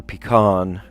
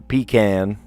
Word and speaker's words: pecan: then peck for pecan, or pecan, depending on how you say it. Pecan. I think I'd more often say pecan, like praline pecan. I don't know. But then, pecan pie, right? How do you say it? Let me know. How do you say it? Do you say pecan or pecan? Guess you could say it either way, huh?